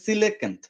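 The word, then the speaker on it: coelacanth: এটার সিলেকান্ত বলা হয় এটার উচ্চারণটা আমি ভুলে গেছিলাম সরি এটার উচ্চারণটা হচ্ছে সিলেকান্ত সিলেকান্ত একটা মাছ এটা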